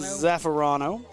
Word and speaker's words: Zaffarano: Zaffarano. I mean, it's actually not as hard as it looks to say. It rolls off your tongue once you figure out the syllables.